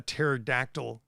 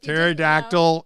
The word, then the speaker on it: pterodactyl: can't you hear a pterodactyl go to the bathroom why because the p is silent don't get it I know you get it pterodactyl is spelled p t